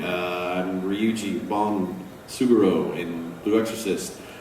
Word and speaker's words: Ryu: yes potato potato yes Capcom tells me to pronounce Ryu although there are people that call him rayu but yes that guy from Street Fighter he call Dante calls him rayu and I've heard that